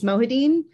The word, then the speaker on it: Mohideen: how's everything uh correct me did i pronounce your name right wrong what do we got we're so close jeremy it's mohadeen i've been married for 10 years and i'm